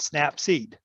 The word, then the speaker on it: Snapseed: you snap seed yes as in snap peas but snap seed seed yes oh seat